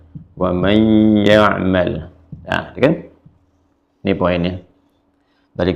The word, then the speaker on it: وَمَنْ يَعْمَلْ: Terus ketemu dengan ya, jadi idgham. Wa may dibacanya ya'mal. Wa may ya'mal.